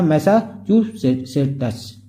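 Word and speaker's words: Massachusetts: थी उसका नाम है मैसा च सेटस प्रोनाउंस थोड़ा फ्रेंड्स अटपटा है इसको थोड़ा सही से पढ़िए मैसा चू सेटस आनी फॉर 42 इयर्स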